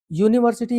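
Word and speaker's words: university: आप देख रहे हैं उच्चारण आपका यू से शुरू हो रहा है। यानी कि वाई की ध्वनि आ रही है।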